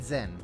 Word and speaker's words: Jin: Um, I'm Jin. Don't think I'm quite the figure you make me out to be, though. I'm Jin. Okay, they pronounce it as Jin. I'm going to keep saying Zinn.